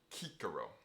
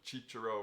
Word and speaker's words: Cicero: with a hard C likewise Cicero will for our class B kikaro there's a whole conversation to be had about the pronunciation of these letters it changes over time there's a class ecclesiastical pronunciation Church pronunciation chicharo and Italian we are